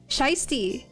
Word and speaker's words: shiesty: Okay, well, how do you see it then? Shiesty.